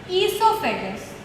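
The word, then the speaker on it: oesophagus: एक और चीज, फूड पाइप को कहा जाता है ईसोफेगस। ईसोफेगस, ईसोफेगस जब आप प्रोनाउंस करते हो तो उसका ये ओ साइलेंट हो जाता है, ठीक है।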